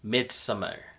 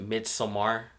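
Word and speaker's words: Midsommar: this every 90 years mid-summer or I don't know some people pronounce it mid some are I say mid summer I haven't seen minsum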